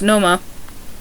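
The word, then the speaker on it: Nomar: R's are pronounced as H's, but it's not vice versa, so car is pronounced ka, just like Noma, ex-Red Sox shortstop is pronounced Noma, but house remains house.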